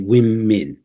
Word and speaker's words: women: so I I really womin okay so watch out for those two vowel sounds in that word right let's knock on